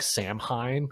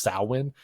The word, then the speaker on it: Samhain: It looks like Samhain. It's Samhain, but it's pronounced Samhain.